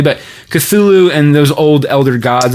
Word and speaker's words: Cthulhu: Mike Magnolia, if I'm saying that right, he actually did research into like, I pronounce it Cthulhu. I heard other people pronounce it differently, but Cthulhu and those old elder gods and all that.